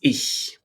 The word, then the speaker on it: ich: It means I or myself, and we pronounce it as ich, ich, ich. And this is the hissing cat.